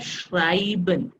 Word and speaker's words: schreiben: with these sounds so the sounds e i has i sound i like in english so we have schreiben so normally we read it shriven but that is shriven and on the other